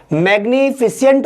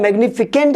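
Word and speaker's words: magnificent: मैग्निफिसेंट होता है, मैग्निफिकेंट नहीं होता।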